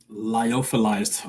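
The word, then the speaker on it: lyophilized: They have a 30,000 square foot facility with grows, employees, staff, all types of Um, liophilized.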